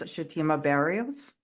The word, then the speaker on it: Chutima Barrios: I've known for a little while now is shatima baros did I get your name I want to make sure I pronounced it correctly yes you did it right